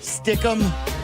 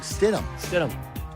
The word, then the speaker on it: Stidham: And I don't know him well into enough, but stick him. Stidham is not you look at the name. It's not He hard. has mispronounced other names that are more difficult to pronounce than that.